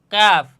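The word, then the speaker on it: ق: কাফ। আর এই হরফটাকে কি বলা হয়? লাম। আসেন আমরা এখন দেখি কাফ হরফের উচ্চারণের স্থান তথা মাখরাজ কোথায়? আমরা কফ হরফ উচ্চারণ করছিলাম কোন জায়গা থেকে?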